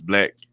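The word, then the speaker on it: 6LACK: a uh black it's it's spelled six black but but it's I mean six LA but it's black um he was he's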